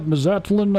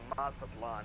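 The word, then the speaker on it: Mazatlán: Uh, can you pronounce that? Mazatlin. I don't know how to pronounce that, brother. Can you say that again one more time for FedEx 3? It's Mazatlan. Mazatlan.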